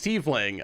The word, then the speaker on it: Tiefling: It's Tiefling. I know how to pronounce that.